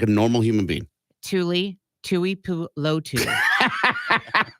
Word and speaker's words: Tuipulotu: I think it's one of those names that's just hard to read like a Tuilupo. Like read it like normal. Tuli No, don't do it like phonetically, like slow down like we're 5. Tuipulotu. No, read the whole name. Tui. No, Tu don't pause. Tuli. Read the name like Corbin Tuli.